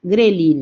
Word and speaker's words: grelina: es una gh eh gh relina o sea grelina decimos nosotros en español porque no pronunciamos la H bueno Y esta que